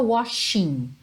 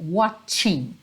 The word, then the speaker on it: watching: t e o c então é aquele mesmo som do tchau que a gente faz em português que tem o tcha tcha não é só washing ok washing watching tch tch Uhum Então watching